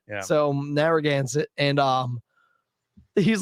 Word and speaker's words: Narragansett: vacation and i was like yo they have narang said on tap yeah man yeah brian brian sent me and he's like well how was it pronounced bob they're against narragansett yeah so narragansett and um he's like yeah they're charging me